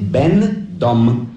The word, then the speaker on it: będą: Na zgłoskę ę, piszemy ę, ale wymawiamy en, en. Piszemy będą, a wymawiamy będą.